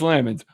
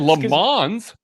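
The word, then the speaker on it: Lammons: Craig, is it Chris Lamons or Lamons? It is Lamons per the Chiefs pronunciation guide.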